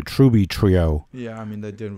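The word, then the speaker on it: Trüby Trio: that particular country yeah so i haven't said tribitrio in a long time i i'm supposed to say truby trio yeah i mean that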